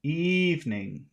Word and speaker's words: evening: all three uh now in the word evening which syllable has all of the Power a e e Eve the first one evening e evening evening yes